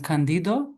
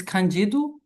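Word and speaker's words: Candido: Uh because I have a tendency to read this as Italian. Kandido. Can somebody help me? Is this Kjidu?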